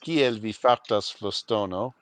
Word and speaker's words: Kiel vi fartas, Flostono: It's pronounced "Kiel vi fartas, Flostono," Of course. and you can make all the fart jokes you want, but that's how you really say it.